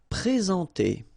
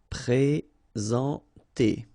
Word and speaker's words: présenter: Okay, remember when we've got this accent aigu like that on the top of sorry, then you should pronounce it e. All right, and then you combine the two en nasal en.